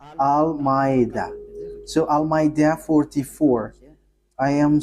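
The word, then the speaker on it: Al-Ma'ida: So, the way you write it, Al-Maida, is as it is pronounced, Al-Maida.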